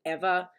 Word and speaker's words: Eva: to like process that her name is actually pronounced ever um like never ever you know but like